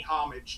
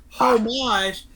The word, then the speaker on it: homage: object is like the the pronunciation you leave the H out like hors d'oeuvres right and they gotta be honest with you saying home watch is pretty stupid pronunciation